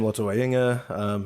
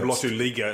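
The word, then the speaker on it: Lotu-Iiga: Or Sam Lotuliga, as everyone insists on calling him, wrongly. That's a pretty incorrect way of. It is incorrect, but it's pronouncing. It's because the capital I after the hyphen is why they get it wrong.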